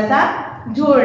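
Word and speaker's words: सज़ा: देखो, हमने ज पर क्या किया? थोड़ा सा जोर डाला, और उसके शुद्ध बोलने के लिए हम इसका उच्चारण शुद्ध कर सकते हैं, इसीलिए हम उसके नीचे नुक्ता लगाते हैं।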